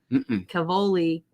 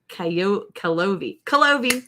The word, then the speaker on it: Calovi: Cavoli. Nope. So the L's are before the V. Calovi.